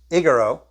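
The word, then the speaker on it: ἐγείρω: That's word 1453, pronounced egero, which this word appears 144 times in the Greek New Testament.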